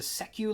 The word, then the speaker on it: SECU: Natural History and the How do you pronounce the SECU lab or the Secu Lab? Oh yeah. Well, that's a good question. State employed credit union. So I think I think it's secu lab.